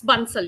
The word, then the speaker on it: Bansal: I actually not sure if I am pronouncing your last name correctly. I would say. It's Bunel.